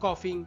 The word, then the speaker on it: cough: যেমন হি ইজ লাফিং বা হি ইজ কফিং ইত্যাদি।